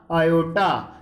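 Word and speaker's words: aorta: तो इसका जो राइट आंसर रहेगा बच्चों वो रहेगा आयोटा। ठीक है, कौन सी है? आयोटा। आर साइलेंट है इसमें।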